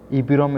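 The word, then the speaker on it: EPROM: ई पी रोम इज़ the acronym for erasable programmable read only memory and pronounce E पी रोम, और इस तरीके से pronounce किया जाता है।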